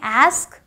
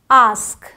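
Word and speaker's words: ask: है फर्क क्या है अमेरिकन इंग्लिश में ए का साउंड देते हैं ब्रिटिश इंग्लिश में आ का साउंड देते हैं तो इसे अमेरिकंस बोलेंगे एस्क ब्रिटिशर्स बोलेंगे आस्क इसे फास्ट फास्ट ग्लास ग्लास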